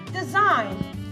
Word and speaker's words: design: So letter G is silent in the word design.